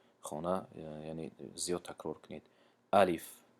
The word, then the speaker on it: الف: الف، الیف نمیگیم چون که کشیده نمیشود، لیش کشیده نمیشود.